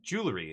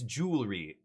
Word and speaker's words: jewelry: speaker and they're like, "Can you say it again?" And I'm like, "Jwelry." And they're like, "It's jewelry."